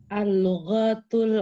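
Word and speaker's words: اللُّغَةُ: Al-lughatul arabiyyatu sahlatun. Sering kali ditekankan al-lughatul arabiyyatu sahlatun. Sahlatun. Baik. Al-lughatu pendek semuanya Mas bacanya. Pendek al-lughatu.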